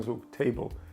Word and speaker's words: table: йде наголошений склад наприклад давайте візьмемо перше слово table тут два склади перший склад й чіткий те і й а потім кажемо бл Але ми не кажемо бл А ми кажемо б і л між ними іде нейтральний звук table тепер дивіться наголос буде